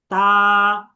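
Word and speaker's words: ت: থেকে লাগিয়ে রেখে বলেন তা, বলেন তা, বলেন তা, তা তা, তা তা, তা তা, তা তা, তা তা। আচ্ছা, মাশাআল্লাহ। তাহলে আশা করি আপনারা এই তায়ের উচ্চারণ বুঝতে পেরেছেন।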